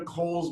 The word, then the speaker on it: Cowles: So, and I don't go into Coles Mountain, also known as Cowles Mountain. Everyone, if you're from San Diego, you know how to say it.